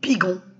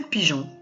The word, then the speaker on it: pigeon: Parce que le G suivi d'un O, c'est go. C'est pour ça qu'il y a le E. Donc, le E est mis avant le O pour nous permettre de prononcer le son je. Et automatiquement, on peut dire un pigeon.